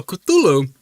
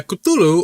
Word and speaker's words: Cthulhu: So Cthulu uh Coutulu or Kulu um if we're going to go by how Lovecraft wrote the intended pronunciation, which is like put your tongue put your tongue up against the roof of your mouth and then uh try to speak K L U L U.